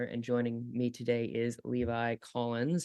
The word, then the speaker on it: Levi: joining me today is Levi Collins. How are you, Levi? I'm doing well. Or is it Levy? It's Levi, yeah. Okay, I got it. Okay. Some people go Levy, but yeah, Levi's preferred pronunciation, I'd say.